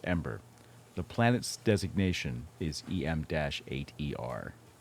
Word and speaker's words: EM8ER: let's see drums em8r e mater it's not pronounced e mater by the way is pronounced ember the planet's designation is em-8er of course by